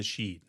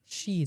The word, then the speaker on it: Sidhe: He tells Cuchulainn that he is his father from the Sidhe. Sidhe. Yeah. I think that's how you say it. It's usually pronounced the Sidhe. Sidhe.